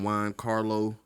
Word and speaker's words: Giancarlo: Yeah, starring Giancarlo. Is that how you pronounce his name?